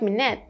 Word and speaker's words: minute: We have minute in the held T. Remember? T at the end. So for minute, no T, but for wait, the sound.